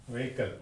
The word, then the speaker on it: vehicle: next one you said vehicle vehicle yeah vehicle so vehicle so that only we say vehicle vehicle but it is not vehicle vehicle no vehicle so three syllables so this is how